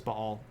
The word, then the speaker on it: Baal: have heard Baal uh the actual way to pronounce that as Bal um you might have heard